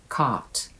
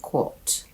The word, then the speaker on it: caught: For caught, the American accent is caught, but the British say quot.